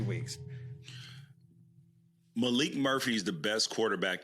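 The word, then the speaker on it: Maalik: It's not Malik. Malik Murphy. It's Malik. That's spelled. Yes. Okay. Yes. M-A-A-L-I-K.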